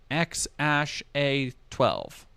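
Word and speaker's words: X Æ A-12: actual birth date and age of his son X Ash a12 which is how you pronounce that other deleted tweets are for the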